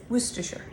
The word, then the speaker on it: Worcestershire: trouble um pronouncing it think of it as West with an ooh and it loose and then ashore like I'm assuring you everything's okay sure Worcestershire not so hard a